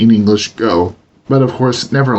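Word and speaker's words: 五: the ng sound, and the element go, meaning 5, is usually pronounced with a hard G even within a word, but these are of minor importance.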